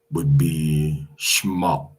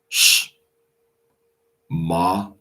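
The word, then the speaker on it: שמע: But the ancient or older pronunciation going back 1,000 years would be shma, sh, ma, okay, shma, which means here.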